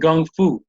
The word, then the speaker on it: gongfu: about this guy teaching gongfu and I thought it was interesting because he actually pronounced it is build it with the G right so I came